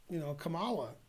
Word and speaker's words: Kamala: Kamala. That rhymes with Hala.